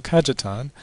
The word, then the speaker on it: Cajetan: The topic is Cardinal Cajetan and the Canon. And I've pronounced that J because Cajetan is Italian, not Spanish.